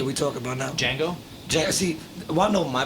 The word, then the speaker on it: Django: Django?